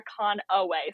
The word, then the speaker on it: Conaway: Uh, and most people forget my last name wrong, which is okay. It happens all the time, but it is Conaway. So, there's an A in there.